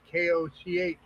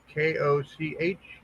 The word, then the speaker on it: Koch: Pronounced Cook, sadly enough, and weirdly enough. Because we're it's not actually Koch, like Mayor Koch, but it's Cook. We say Cook.